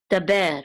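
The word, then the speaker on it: דַּבֵּר: And then this is a dalet with a patak, so this says da, and this is a bet with a sere, so this says be, and this is a resh, which is part of that syllable, so it's ber, daber.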